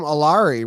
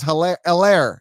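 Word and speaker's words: Helaire: doesn't surprise me there called them alari what was that it's heller yeah the h is silent that's fantasy heads we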